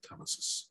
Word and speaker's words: telesis: I usually pronounce it telesis.